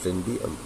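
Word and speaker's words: Toynbee: Bertrand होना चाहिए था, बर्ट्रैंड रसल, हाँ, और टनबी, इसका थोड़ा सा प्रोनाउंसिएशन देख लेंगे आप, अर्नल्ड टनबी।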